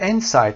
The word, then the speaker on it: inside: وقتی inside رو میخونیم، inside دو تا تلفظ داره. یکیش inside هست، یکیش inside هست. در اینجا ما inside رو به این شکل میخونیم inside story. inside story or inside information، یعنی استرس قسمت اول قرار میدیم و معناش هم میشه